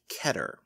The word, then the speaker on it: Keter: But the actual word is Hebrew, and it's supposed to be pronounced Keter. So if someone does say Keter, they are not wrong,